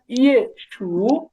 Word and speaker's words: 也许: Okay sir আচ্ছা, শিয়া উ, 下午 শিয়া উ, 下午 থো পিয়ে, থো পিয়ে, 特别 তি ই, 第一 ইয়ে শু।